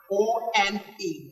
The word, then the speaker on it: one: The first one we have here is one, O-N-E, one. Look at the pronunciation. It's far away from the spelling.